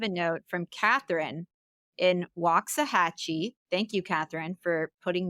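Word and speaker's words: Waxahachie: up we have a note from Catherine in waah hatchee thank you Katherine for putting the pronunciation of your city Catherine I knew I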